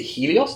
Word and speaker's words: Helios: Um, and then behind where your picture is being taken, you have the new grand is it Helios? Is that how it's pronounced?